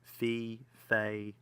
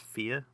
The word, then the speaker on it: Fe: Next up was a game that people have either called Fei, or I think the developer did a kind of a short video clip on Twitter saying it's actually pronounced Fear.